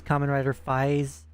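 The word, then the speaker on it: Kamen Rider 555: It's like they have a show called Common Rider and then you see 555 at the end and it's you pronounce it as Common Rider Fis.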